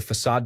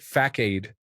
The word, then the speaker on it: facade: He pronounced it facade for about 45 minutes in front of the development team. When he was done, he asked what I thought of his talk. I told him it is pronounced facade.